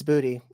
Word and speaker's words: Booty: I've been screwing up Bute forever apparently it's booty yeah General booty quarterback for the Oklahoma Sooners there you go I don't care where that man gets drafted I'm taking him first round and dinosaurs so booty General booty that that's the quarterback's name from